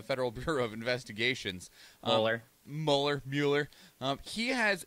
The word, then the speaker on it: Mueller: it as Robert and molar but like I I know people that have his exact last name it's a German last name and it's pronounced Mueller so maybe he pronounces